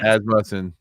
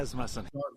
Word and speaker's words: Asmussen: Asmussen, making sure that we pronounce his name the correct way. Asmussen.